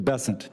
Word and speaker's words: Bessent: Cassidy um Mr bassant I'm always going to pronounce your name as if it was in south Louisiana and I'm going to pronounce it with a French bassant as opposed to bessin that's what those folks in South Carolina do um I'll try let